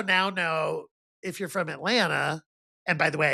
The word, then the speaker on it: Atlanta: But I also now know if you're from Atlanta, and by the way, I say it right. Atlanta, not Atlanta. Atlanta.